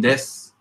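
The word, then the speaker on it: です: Hollanda jin des. Oranda jin. Des. Des. Don't pronounce the u. Oh yeah, exactly. Again, so every time I see an u at the end, don't pronounce it.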